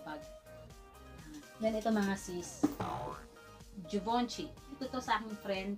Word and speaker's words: Givenchy: Pag binasa nyo, Givenchy, pero ang pronunciation para sa kanya ay Givenchy.